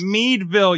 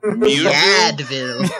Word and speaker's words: Meadville: Meadville. Meadville. Is that Meadville, PA, you fuck. At the Meadville. I'm sorry, I'm from the area. You fuck. You remember those notebooks, Mead notebooks? That's how you pronounce it.